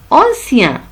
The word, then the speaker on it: ancien: Et on a dit que I-E-N se prononce ien. Ancien.